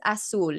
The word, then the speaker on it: Azul: yeah yeah technically it's aul it's like more of it's more of an S um because I'm spam